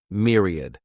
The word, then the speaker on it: myriad: Mere sounds like mere, myriad.